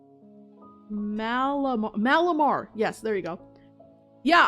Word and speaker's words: Malamar: Oh gosh, I can never pronounce that name. Malamar.